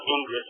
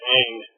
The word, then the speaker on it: Ingres: But the R-E-S is really all but silent, right? Not Ingres, but Ingres, right? So as if it were spelled like A-N-G, right? Is the best way to pronounce it in English.